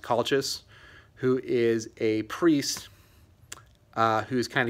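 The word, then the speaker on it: Calchas: So the two kind of main viewpoint narrators of the story are, I believe his name is pronounced Colchis, who is a priest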